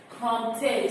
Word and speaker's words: compter: Compter. So you're going to say that after me. You listen to the way I'm pronouncing.